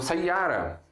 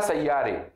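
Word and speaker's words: سيارة: Então, essa palavra, nunca vou falar sayyare. Jamais. Tem que ser sayyara mesmo.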